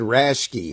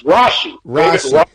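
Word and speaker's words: Rasche: I always said David Rashke. How do you pronounce his actual name? Oh, his name's Rashi.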